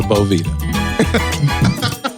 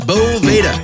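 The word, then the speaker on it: Boveda: I called it a Bovita. My friends, it's Bovda. Bova with an A. They spell it with an E, but it's it's pronounced with an A.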